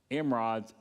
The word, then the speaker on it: emerods: So, but we're going to see in a little bit that they're going to give gold tumors or emerods, say it right, emerods and rats.